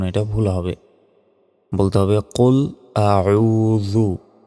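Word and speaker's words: قل أعوذ: আউজু আমরা অনেকে বলি কুল আউজু আউজু এভাবে বললে সম্পূর্ণ এটা ভুল হবে বলতে হবে কুল আউজু জাল অক্ষর আসলে জি বের করে উচ্চারণ করতে হয় বা জের বি রব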